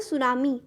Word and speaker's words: tsunami: अंदर आप क्या देखेंगे, जो फर्स्ट लेटर है सुनामी का इट इज़ टी, लेकिन सुनामी बोलते टाइम आप इस टी को यूज़ नहीं करते हो, इसको प्रोनाउंस नहीं करते हो। टी जो है वो साइलेंट रहता है, ठीक है।